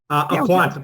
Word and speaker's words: Aquant: And am I pronouncing that correctly, the Aquant? Oh, you're on mute. Aquant, but that's fine.